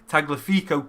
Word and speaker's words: Tagliafico: He says you pronounced Tagliafico correct, as he is Argentinian.